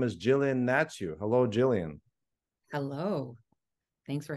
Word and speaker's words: Hnatiw: was completely shocked by the way you pronounce your last name you pronounced it natu and for a second